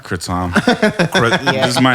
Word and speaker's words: kratom: conspiracy dudes you know it's actually it's pronounced kratom kritam this is my name